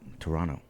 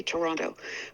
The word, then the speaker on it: Toronto: in the states so is it true that you don't pronounce the T the middle t I that's how people know I'm from toe because I say Toronto but if you front